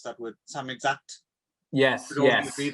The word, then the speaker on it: Samizdat: I mean, they were, you know, the censors did come down, and you could only some, how do you pronounce that word? Samizdat.